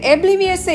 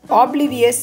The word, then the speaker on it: oblivious: இந்த obliviousை எப்படி நம்ம ப்ரொனவுன்ஸ் பண்ணணும் அப்படின்னு பார்த்தோம்னா, உச்சரிக்கணும்னு பார்த்தோம்னா oblivious அப்படின்னு சொல்லக்கூடாது. இங்க ஓ இருந்தாலும் அதோடைய சவுண்ட் oblivious இப்படிதான் நம்ம இதை சொல்லணும்.